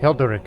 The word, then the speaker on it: Hilderic: Hilderic is how you say his name.